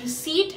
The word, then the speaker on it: receipt: you call it always receipt and not received so the P here is supposed to be silent and how do you